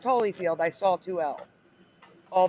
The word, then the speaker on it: Holyfield: Vanda hollyfield but again never pronounced Holly always Holyfield question two yep here